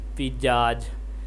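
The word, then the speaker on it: pizzazz: द आई इन the first syllabus P I pronounce like the ए in China and द ए इन the second syllabus is pronounce like इक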